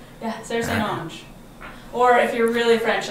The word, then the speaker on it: St. Onge: Yeah, Sara St. Onge. Or if you're really French, like Onge.